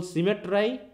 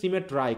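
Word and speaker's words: symmetry: Could frame দাই fearful সিমেট্রাই। দেখো উচ্চারণ কিন্তু সিমেট্রি, কিন্তু উচ্চারণ করতে হচ্ছে সিমেট্রাই। কারণটা কি? আয়ের উচ্চারণ কি আই না? তাহলে আমাকে রাইম মিলাতে হলে কি করতে হবে? সিমেট্রাই বলতে হবে।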